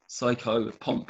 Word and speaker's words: psychopomp: Can you spell that word? I've never heard that word. Psycho POM, psychopomp.